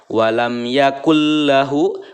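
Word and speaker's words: وَلَمْ يَكُن لَّهُ: yaitu lam dan ro Apabila ada nun bertemu dengan huruf lam maka membacanya harus memasukkan serta tidak mendengung ya cool nah memasukkan dari huruf Kaf ke dalam huruf lam ya Nun nya tidak terbaca kemudian tidak disertai dengan dengungan Ya hanya idgham saja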